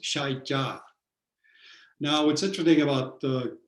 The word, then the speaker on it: Saicab: It's pronounced Shai Ja.